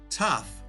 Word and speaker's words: tough: snow and blow tough rhymes with ruff and stuff next up we have